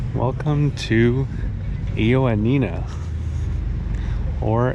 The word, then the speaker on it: Ioannina: Welcome to Ioannina, or Yannina as it's sometimes pronounced.